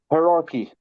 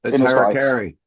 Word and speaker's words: Harakiri: Hierarchy. It's Harakiri. Sorry, I'm pronouncing it different than you Norwegians.